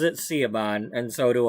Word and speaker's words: Siobhan: I I don't care if it's Siobhan. Siobhan like in in my story she pronounces it Seaban and so do I.